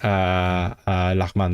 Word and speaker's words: lağmen: Is it langmen? I'm pretty sure that is lachman, like ramen. That's the origin, because ramen is from Central Asia, and then that's the original form, I think.